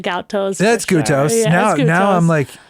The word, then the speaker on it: Goutos: I just gout The toes. gout toes. Because I have them sometimes. People have told me that it sounds like gout toes.